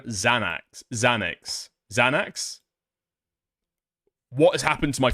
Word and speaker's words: Xanax: I don't know if it's pronounced Xanox.